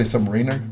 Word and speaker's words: Submariner: it so yeah some I said Submariner but some people say Submariner I don't know submarine sandwich uh which they changed the